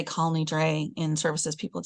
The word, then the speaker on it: Kol Nidre: So think about what was happening Jewishly when Kol Nidre, or Kal Nidre, as our Sephardic friends like to tell us, Kal Nidre because it's Aramaic. But if I were to say Kal Nidre in services, people would say, Rabbi, you're mispronouncing it, right?